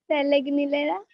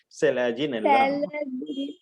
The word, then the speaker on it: Selaginella: Selegnilera. अरे. Selaginella.